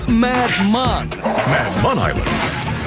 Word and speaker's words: Madman Island: does sound like fun escape from madman island pronounced mad mon man hires george to find his friends you